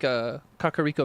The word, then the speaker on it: Kakariko: Just like Kakariko Village is the correct way to say it.